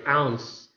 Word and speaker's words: ounce: Next, the third word is ounce. Ounce. Ounce. I underline the letter C because in that transcription, it is being represented by the s sound, making the last letter E a silent letter.